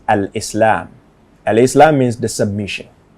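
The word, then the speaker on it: al-Islam: Islam Islam means submission the proper way to pronounce it is Al Islam Al Islam means the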